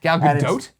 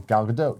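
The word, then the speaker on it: Gal Gadot: the video there's a YouTube video how to pronounce gal gdot's name galot 45 seconds of her saying galado doe galot galot galot from a bunch of interviews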